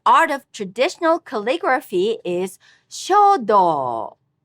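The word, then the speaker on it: 書道: The art of traditional calligraphy is shodo. All these have high-low pitch accent.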